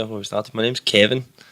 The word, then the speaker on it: Kevan: my jotter and went, "Is your name Kevan?" And I went, no, it's just Kevin. She was like, "Is it spelled like that with A?" And I was like, "Aye, that's how it's spelled." And she was like, "Your name's Kevan."